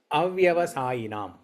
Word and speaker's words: avyavasayinam: The last line, buddhayo, and you see an apostrophe sign and vyavasayinam, right? So you should read that word as avyavasayinam.